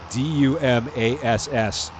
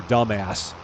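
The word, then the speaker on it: Dumass: And it's just a guy who's like interviewing for a job, and the guy's name is spelled D-U-M-A-S-S, and he calls the guy Mr. Dumbass, and it's actually pronounced Dumas.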